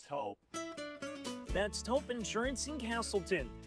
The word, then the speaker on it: Toop: No, I'm pretty sure it's Toop Insurance. Maybe Toupee. Could be Toupee. Yeah, I don't know. Or Taupe Insurance, maybe? Nah, I don't think so. Say it right. That's T-O-O-P. That's Taupe. Oh, it's Taupe.